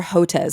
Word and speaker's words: Hotez: So you co-wrote your new book, Science Under Siege, with Peter Hotez. Is that how you pronounce it?